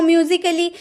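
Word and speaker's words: musically: Word दिख रहे हैं, जब ए के बाद डबल एल वाई रहे आपके किसी वर्ड में तो ए का उच्चारण नहीं किया जाता है, उसका प्रोनाउंस नहीं किया जाता है, ये आपको याद रखना हो।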